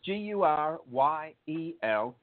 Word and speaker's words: Guryel: So it's Guryel. E-L. Oh, man, I'm going to have to correct that. But we got. That's okay. That's Guryel. So the Y is pronounced like an I, and so you say Guryel.